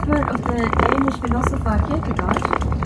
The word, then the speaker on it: Kierkegaard: If you pronounce that whole name correctly, his name is actually Kierkegaard, the churchyard. But don't show off if you say Kierkegaard, nobody will understand you, just stick to Kierkegaard.